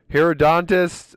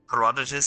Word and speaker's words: Herodotus: Herodontus, I could have lived without. Herodotus, he was like, "Oh, look at me!